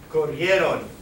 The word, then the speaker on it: corrieron: Corrieron. Desiree. Corrieron. Yeah. Corrieron. You can take these IE here and it helps you make a Y sound.